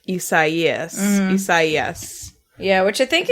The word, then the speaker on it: Isaias: The first time we heard it, we thought that the weather person had never heard the name Isaias before, but it was actually like Isaias.